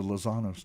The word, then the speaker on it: Lozanos: said it right yesterday I like to really say is tell people you've heard of The Sopranos Sopranos yeah well the lozanos took them out ah any just being